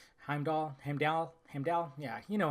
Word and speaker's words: Heimdall: got Loki we got heimall I always say his name wrong Heimdall heal heal yeah you